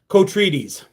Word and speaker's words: Kotrides: It's pronounced Kotrides. Blockbuster was amazing, Jessica. Have a great week, Mosen. Kotrides. Love your good old days videos, says Jim. Me too. Kotrides.